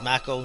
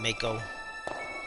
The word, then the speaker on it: mako: probably gonna mispronounce stuff it's mako not mako which i was saying wrong for years the mako reactors no